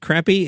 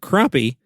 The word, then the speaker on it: crappie: even though it is spelled like you would pronounce it crappie, it's actually pronounced croppie, and tells me it's a popular menu item for recreational fishermen.